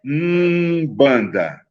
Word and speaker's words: Umbanda: Então, Umbanda, veja, Umbanda é Umbanda, porque eu falo Umbanda, então nessa pronúncia que eu faço é a letra U, mesmo sendo escrita com M mudo.